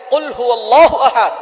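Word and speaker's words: قُلْ: আল্লাহ পাক রব্বুল আলামিন এখানে বলছেন কুল হুয়াল্লাহু আহাদ, এখানে কফ দিয়ে পড়ছেন। কিন্তু অনেকেই ভুল করে, উচ্চারণ সঠিক না হওয়ার কারণে তারা পরে কাফ দিয়ে কুল হুয়াল্লাহ।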